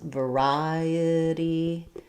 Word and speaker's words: variety: So second syllable stress, variety. We stress on the ri syllable. Letter I does say the I diphthong. Letter A then says the sound, so v, ri. The E says an I sound, I. The T is flapped.